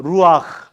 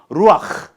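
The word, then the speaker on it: רוּחַ: 루아흐. 흐 할 때 뭐가 침이 나와도 근데 이제 코로나 때문에 좀 조심하겠는데 히브리 사람들의 발음은 흐예요. 이거 그래서 루아흐.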